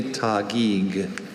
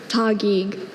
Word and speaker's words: Taguig: Are there any alternate pronunciations? Only Taguig. Could you say it? Taguig.